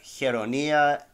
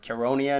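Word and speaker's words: Chaeronea: I've only worked on uh hironia or caronia in English I like to pronounce it the Greek way and granicus so those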